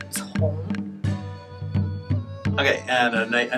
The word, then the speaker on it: Cong: So C-O-N-G, I usually teach my American friends like C is pronounced as Bob said, the last sound of cats, and O-N-G is pronounced as O-W-N in English. So altogether it's Tong.